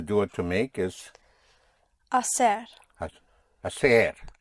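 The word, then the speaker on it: hacer: Again, the H is not pronounced. So you have assayer to do. How would you say to do like that? Aseri. Yes. To do like that. Asser to do like that.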